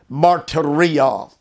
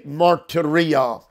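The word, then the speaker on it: μαρτυρία: Martyria. I will spell it. M-A-R-T-U-R-I-A. Martyria.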